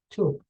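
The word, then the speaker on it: ثوب: So if there's, let's say, the word thawb, which means cloth, you can pronounce it like just simply like tube.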